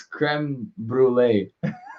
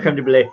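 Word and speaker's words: crème brûlée: It's creme brulee. I said creme de brulee. It's like last time where I was like creme de la mint. It's like you added like an extra syllable.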